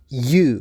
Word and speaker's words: ewe: Now, check your pronunciation in the first word 'chaos' /ˈkeɪɒs/ number two 'ewe' /ju:/ number three 'bough' /bɑʊ/ number four 'thorough'